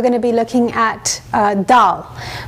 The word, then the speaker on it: dal: to be looking at doll so doll spelt da L is basically an Indian